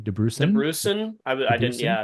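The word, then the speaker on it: Dabrusin: DeBrusen.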